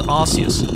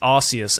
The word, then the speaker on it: Arceus: Today, we are playing Pokémon Legends Arceus. Is it Arceus or is it Arcanus? You see what I did there? Even though I'm fully aware it's actually pronounced Arceus and not Arceus.